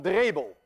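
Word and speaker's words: Drebbel: Cornelius van Drebel, and I know how to pronounce that name because I'm Dutch.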